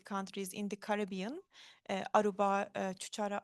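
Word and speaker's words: Curaçao: in the Caribbean Aruba Chuchara I hope my pronounce Kurasa Kurasa and St.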